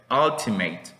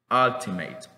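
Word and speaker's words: ultimate: palabra va que dice altimate verdad con una u entonces vean que la pronunciación de la u no siempre va a ser una u puede ser por ejemplo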